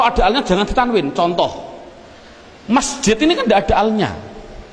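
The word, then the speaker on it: مسجد: Adapun depan ada tulisan mim sim jim dal, bacanya apa? Masjid. Mengapa kok dibaca masjid? Mbok dibaca misjid saja.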